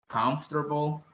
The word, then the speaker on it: comfortable: No decimos confortable, ni confortable. Así como, casi como se escribe, ¿verdad? Comfortable, no. Es más bien comfortable, comfortable, comfortable.